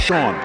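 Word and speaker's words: Shaone: Did I say Shane? Yeah. Sean Morrison. I'm sorry. He spells it S-H-A-O-N-E, but it is pronounced Sean.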